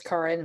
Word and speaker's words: Karen: Okay, to start, I have an unusual pronunciation. It's Karen instead of Karen.